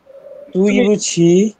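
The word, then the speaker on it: 对不起: দুই বলছিলাম তুই বুঝি তুই বুঝি তুই প্রোনাউন্সিয়েশনটা এরকম হবে তুই বুঝি তুই তুই তুই বুঝি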